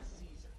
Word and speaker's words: Cesar: I'm gonna call him Caesar. Caesar. Because there's no accent mark.